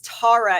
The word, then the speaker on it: Tara: And it's funny because my husband is from South Africa and he has to tell people, no, it's Tara. It's not just my accent.